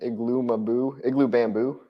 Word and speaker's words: Igloo Bamboo: Igloo Bamboo. I said his name wrong so many times before I finally read it one day and I was like, Igloo Bamboo. That's what you Yep.